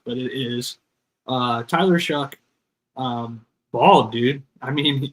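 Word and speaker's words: Shough: I don't understand how it is pronounced Chuck, but it is uh Tyler Shuck um bald dude.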